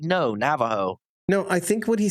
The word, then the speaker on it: Navajo: Do you know how some people pronounce Oregon Oregon? Mhm. And Nevada. It's the same with Navajo. It's Navajo.